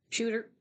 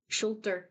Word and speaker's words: Schulter: Shooter. Schulter.